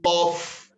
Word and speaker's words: of: club next we say off the president of our club the president of a club that f turns into a v when it comes to pronunciation next we say communicate